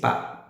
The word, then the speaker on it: pas: isso, mas só que seria PAS, esse par, só que não pronuncia a letra S, tá?